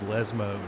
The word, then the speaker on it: Lesmo: And yes, I said Lesmo, not the Jeremy Clarkson pronunciation.